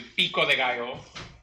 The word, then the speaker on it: pico de gallo: So, now we're gonna do our pico de gallo, which I'm anglicizing in its pronunciation. It's actually pico de gallo.